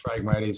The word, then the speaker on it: Phragmites: I'm not sure about the correct pronunciation. Marla could probably help us with that. Phragmites. It's Phragmites, okay.